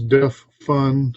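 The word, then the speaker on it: DEF FN: one from Alan Huffman I'm going to pronounce it as de fun because that's always the way it was said in my head but DF space FN as in the extent color basic commands or defined function for Fun and Profit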